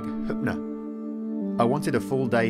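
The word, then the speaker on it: Höfn: of the largest towns in the southeast spelled hoffen it's actually pronounced something more like Kutner I wanted a full day here to explore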